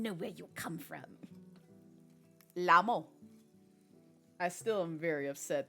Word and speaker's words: LMAO: I said out loud, because that's how it's pronounced in my head when I see LMAO.